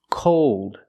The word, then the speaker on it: cold: Old, cold, told, fold. Here we're using a long O sound, but it changes because of the dark L.